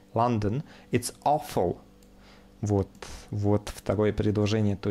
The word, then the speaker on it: London: вопрос Winter in London НН читается не Лондон а вот такой звук будет а London Вот вот Второе предложение